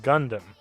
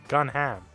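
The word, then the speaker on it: Gundham: is Gundam his name is not Gundam his name is gunam or gunam in in it's pronounced gun Gundam Gundam like guu N D um hm h like well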